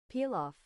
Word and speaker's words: pilaf: The most popular menu item is a pal pilaf. Is that how you pronounce it? Hold on. It would help if I for king knew what I was talking about. Here we go. Let's see. Peel off.